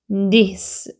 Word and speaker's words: this: V 발음은 아랫입술에 윗니를 물고 바람 이렇게 진동 떨리는 소리로 미면서 of 이렇게 소리 나고 TH 돼지꼬리 발음이기 때문에 아랫니 윗니 사이에 혀를 내미고 this 이렇게 발음이 됩니다.